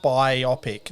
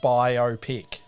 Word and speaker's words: biopic: using the compound stress rule, the word is pronounced biopic, not biopic.